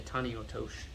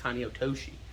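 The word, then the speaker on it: tani otoshi: is kind of short you couldn't say the e at the end it's not incorrect it's just more casual if you say taniyotosh as opposed to tony otoshi but it doesn't really matter okay last one here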